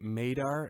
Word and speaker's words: MADAR: both part of the Madar Network it rhymes with radar but it's with an M Madar mad d r.